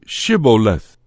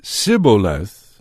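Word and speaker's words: Shibboleth: answered no they would ask him to say shiboleth if he said siboleth not being able to give the proper pronunciation they would seize him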